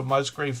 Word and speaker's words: Musgrave: I think I said hello to Musgrave Family Farm. Pronounced with a V, but don't get bothered by it.